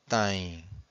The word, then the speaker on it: têm: And every time you have a syllable that ends with a vowel M or vowel N, you have a nasal sound.